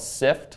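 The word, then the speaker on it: Syft: So my favorite company right now, a company called Sift, run by Eben Pingree. That's with a Y. Yes, S-Y-F-T. Rhymes with lift, spelled like lift.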